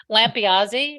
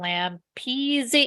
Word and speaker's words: Lampiazzi: It's Lampiazzi, right? And people go Lampezi.